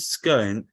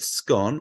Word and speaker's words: scone: You mentioned scone, again, very popular. Let me show you quickly. Now, people will say, how do you pronounce it? Is it scone or scone?